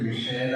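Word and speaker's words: Michaela: So, മത്തിയാസിന്റെ വൈഫിന്റെ പേര് മിഷേല എന്നാണ്. മൈക്കിൾ എന്ന് എഴുതിയിട്ട് അവസാനം ഒരു എ കൂടി ഇട്ട ഉച്ചാരണം മിഷേലയാണ്.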